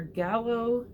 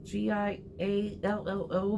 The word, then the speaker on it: giallo: this right, but Italian Giallo or Gallo, it's Giallo movies, and I've watched those, and I really love those.